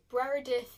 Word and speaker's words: Breredith: not to like so I jump into it Brera death is real guys for those people who don't